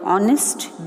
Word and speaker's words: honest: Here the word honest begins with word H, which is a consonant. But the word sounds, or when we speak it starts with the word O. H here is silent.